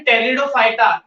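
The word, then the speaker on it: Pteridophyta: ठीक है बच्चों, तीसरे ग्रुप पर चलते हैं जिसका नाम है टेरिडोफाइटा। इसमें पी साइलेंट है बच्चों।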